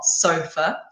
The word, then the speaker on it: sofa: So put the stress on the o, sofa.